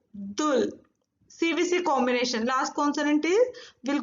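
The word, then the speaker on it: 둘: 1 Hana, 2 Dul. CVC combination. Last consonant will go down. So Dul is fully one syllable.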